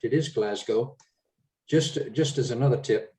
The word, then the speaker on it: Glasgow: frank just a quick tip you've got the pronunciation exactly correct it is glasgow just just as another tip don't call the